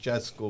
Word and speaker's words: Francesco: You said Francesco. That's a Spanish pronunciation, but Francesco would be Italian, right?